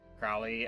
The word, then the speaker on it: Crowley: So yeah, Crowley as in Alistister. That name rhymes with holy. We don't know how to pronounce things. I mean Crowley is how it always was pronounced in the show to be fair.